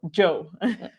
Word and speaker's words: Joe: Like Joe here, not Yo, Joe. Joe. Thanks. It's pronounced like Joe in English. Okay, like a cup of Joe.